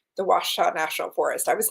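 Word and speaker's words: Ouachita: a t a w so that people can pronounce it it's a tough one washaw I love that wash wash wash okay I'm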